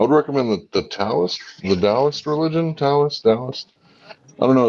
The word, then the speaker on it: Taoist: The D and the T is the yeah, same. You could do that's it. DAO or TAO, same thing.